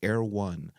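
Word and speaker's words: Erewhon: of them is a sushi restaurant it's called Air1 but it's pronounced E I mean sorry it's spelled e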